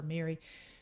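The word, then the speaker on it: Meiri: without the middle eyes the silent eyes pronounced exact same ways gaelic for mary but when i came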